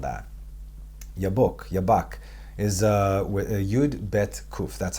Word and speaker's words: Yabok: Yabak, is Yud Bet Kuf. That's how it's spelled in Hebrew.